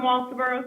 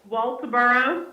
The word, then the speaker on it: Walterboro: Mindy from Walterboro, South Carolina. Mindy from somewhere in South Carolina. How do you say that town again? Walterboro.